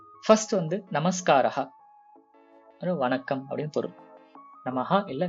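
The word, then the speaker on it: नमस्कारः: பட் சமஸ்கிருதத்துல வந்து நமஸ்காரஹா, அது வந்து ஆண் பாலனத்தை சார்ந்த வார்த்தை. அங்க இம் வர்றது, விசர்கா வர்றதெல்லாம் கொஞ்சம் நோட் பண்ணிக்கோங்க. முதல்ல இருந்து அந்த கரெக்டா அந்த விசர்கா வரைக்கும் ப்ரொனவுன்ஸ் பண்ணணும். நமஸ்கார் இல்ல நமஸ்காரா அது மாதிரி தேவையில்லை.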